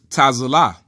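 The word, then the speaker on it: צִלָּה: letter Bible dot-org now the way that you say Zilla or xyla in Hebrew is tasoula ta'ala which means shade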